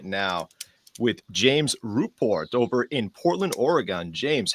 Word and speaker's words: Rupor: I love how you really pronounced Ruport and Oregon. Or I, I, Oregon. yeah, I really appreciate it though. Everybody gets my last name wrong. I've been called Rupert my entire life.